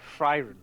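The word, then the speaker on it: Frieren: Aaron Fen oh right right right right yeah fron fron that's it yeah fron or it could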